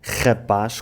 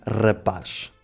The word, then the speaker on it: rapaz: O R português no início das palavras pode fazer 2 sons, dependendo do sotaque da pessoa. O som mais comum é o som R, como o R francês ou o J espanhol. Depois temos ainda o som R, tal como o R espanhol. Ou seja, em Portugal tanto é correto dizer rapaz como rapaz. Eu pessoalmente digo rapaz.